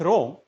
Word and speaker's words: ROM: A read-only memory, which is abbreviated with ROM and rhymes with the MOM, is an IC that can store thousands of binary numbers representing computer instruction and other fixed data.